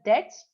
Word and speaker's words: debts: You have to pronounce it as debts, not debt anbardu. B is mute. B is silent.